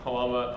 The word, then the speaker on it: Halama: And I'm Halama on Twitter. That is with an H, not pronounced with an H.